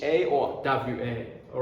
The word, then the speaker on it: は: are right here is wa what again my mother love I love my It's whole same story, right? This ha is the grammar particle. That's why we pronounce w a haha d haha.